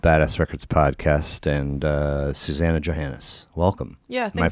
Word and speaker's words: Suzannah Johannes: Of Badass Records podcast and uh Susanna Johannis. Welcome. Yeah. Am I pronouncing it right?